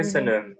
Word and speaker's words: Köszönöm: Köszönöm. Köszönöm. Wow, okay. Good Köszönöm pronunciation.